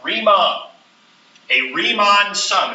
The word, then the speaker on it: Riemann: This is called, notice it's called Riemann. That's how you pronounce that, Riemann.